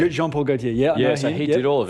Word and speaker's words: Jean Paul Gaultier: So it's because it's a French director I always mispronounce everything but it's Jean Paul Gautier. Jean Paul Gautier.